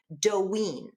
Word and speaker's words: Doyin: So by the way, this person's, I just want to tell you that his name is spelled Doyin, but it's pronounced Doyin.